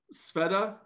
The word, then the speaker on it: Sveta: And then just so I don't get your name wrong, Sveta?